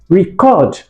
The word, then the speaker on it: record: Word stress in context. Now look at this one. Very important example. Please record the result in the record book. I love it. Please record. Record. Please record. This is an action. I'm telling you to take an action. So this is what? This is in the usage of the verb.